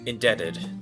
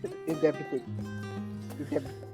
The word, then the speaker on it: indebted: only to leave more indebted. Oh my gosh. I can't do T and then ED back to back. Indebted. Indebited. Indubitably. The B is silent.